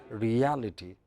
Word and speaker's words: reality: But when you add ITY, reality.